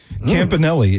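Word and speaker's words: Campanile: But Anthony Campanil Campanelli is according to the uh the team website I think.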